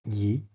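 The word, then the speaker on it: 一: is beyond the appeared world simple one is pronounced Yi that's in the previous line generated butter party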